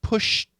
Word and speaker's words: pushed: Now remember, this word alone is pushed with a T, right? Pushed. However, when we link that D, which sounds like a T here, when we link it, it goes back to being a D. So we don't say pushed over, we say pushed over, pushed over.